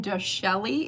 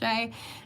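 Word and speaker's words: Chelly: It looks like Canyon Dashelli is how it's spelled, but it's pronounced Sheay.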